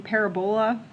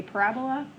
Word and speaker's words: parabola: I've also heard the pronunciation parabola, but I say parabola.